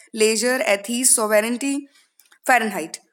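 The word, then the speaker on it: Fahrenheit: तो फर्स्ट है फारेनहाइट. Height, height की स्पेलिंग एक ऐसी है जो सभी को पता होगी. तो अगर मैं यहाँ लिखूँ एच ई आई जी एच टी हाइट, तो हाइट में ई आई आता है और फारेनहाइट के साउंड में भी हाइट आता है, फारेनहाइट. तो हाइट से आप थोड़ा सा याद रखेंगे कि हाँ ई आई वाला वर्ड था, तो फारेनहाइट की स्पेलिंग में ई आई आएगा.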